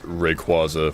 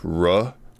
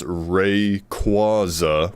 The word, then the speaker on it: Rayquaza: Uh, so forgive me, but uh, uh, I'm pretty sure I've heard like some like the official the official pronunciation as Rayquaza for, you know, the Pokemon that I'm referring to.